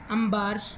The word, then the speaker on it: انبار: دیکھیں یہ والی چیز ہے کہ اردو کے تلفظ جو ہیں، کیونکہ نون اور بے جب ایک ساتھ لکھے جاتے ہیں تو اس کو ہم میم پڑھتے ہیں.